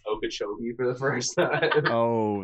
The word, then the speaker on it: Okeechobee: floridian trying to pronounce okeechobee for the first time oh my gosh what's the worst you've heard probably okie shelby i've heard of okacha obi there's an extra o in there or would they put